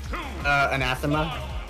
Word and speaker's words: Anathema: Anathema.